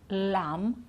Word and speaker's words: lamb: of these words climb we don't pronounce the B at the end crumb lamb and numb okay so no B at the end we don't sound it at all okay now tricky consonants